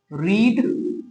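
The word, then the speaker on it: read: verb যেটা তিন ক্ষেত্রেই তিনটে ক্ষেত্রেই কি হয় রিড রেড তিন অনেকে গুলিয়ে ফেলে এটা তিনটের ক্ষেত্রে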